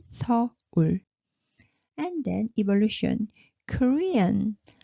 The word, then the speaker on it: 서울: But you remember 를 L sound, so we pronounce it 서울.